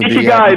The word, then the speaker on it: Ikigai: Ikigai, is it? Ikigai, I think so. I might be pronouncing it wrong. Ikigai, that's it.